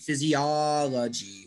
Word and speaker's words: physiology: o physiology yeah yeah it's actually the third syllable gets the stress yes so this is a four syllable word physiology oh five syllable word whoa whoa jonathan physiology and it's the third from the end physiology wow wow it's